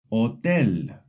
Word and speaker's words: hotel: The important thing to know is the H is always silent. Unlike in English, you never pronounce it. For example, hola means hello. Hotel means hotel. Hermano means brother. See, the H is written, but you don't hear it.